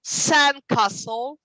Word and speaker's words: sandcastle: pronounce the compound word the stress is always on the first word okay so we have for example uh sorry sandcastle we don't say some